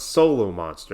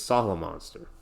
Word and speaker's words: Solid Monster: It's not Solo Monster. Apparently, I've been saying it wrong for the last 6 or so years. It's Solid Monster.